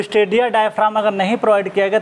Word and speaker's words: diaphragm: जी यहाँ पे साइलेंट होता है, इसे डायफ्राम बोला जाता है, ठीक है।